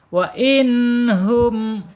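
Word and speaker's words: وإنهم: Wain enggak boleh. Wain ya. Wain hum ya.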